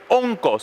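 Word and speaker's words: ὄγκος: Esa palabra peso en el griego se escribe onkos. ¿Y sabe lo que significa? Onkos con K. Onco, así como suena, O-N-K-O-S.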